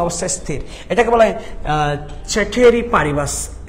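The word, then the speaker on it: ceteris paribus: এটাকে বলা হয় চেটেরি পারিবাস, চেটেরিস পারিবাস, মনে রাখবা, এটাকে বলা হয় চেটেরিস পারিবাস।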